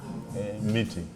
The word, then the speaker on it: Mbiti: Miti. Miti. Miti. Biti. With an M? Spell it.